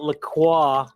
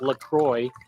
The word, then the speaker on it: LaCroix: i'm drinking uh i i call it lacroix but i guess it's pronounced lacroix because it's from like wisconsin and it's a carbonated